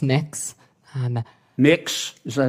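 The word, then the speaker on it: Mx: Cameron tell me what you're you're proposing it's pronounced next um mix is that how you how would you like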